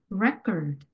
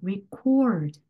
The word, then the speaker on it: record: 기록이라는 명사 단어는 record 부분에 강세가 더 강하게 가야 되고요. 녹음하다는 이런 식으로 record 이렇게 cord 부분에 강세가 가야 되는구나 이렇게 아실 수가 있겠죠.